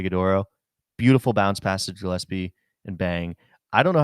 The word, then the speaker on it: Gillespie: I don't know how to pronounce Colin Gillespie's last name, so I'm I think it's gonna Gillespie. I think it's a Gillespie. hard Okay, G. hard Yeah. G.